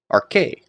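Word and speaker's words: ἀρχῇ: So, we have alpha, rho, chi, eta. A, r, k, a, r, k. Arche.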